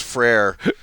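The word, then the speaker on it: frère: French in high school so I know it's frere and yeah there's not a lot of things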